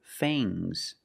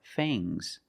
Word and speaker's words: fangs: Use a long a plus the nasal sound and a soft g. Fangs. Fangs. And the s is making a zebra sound. Z, but it's soft.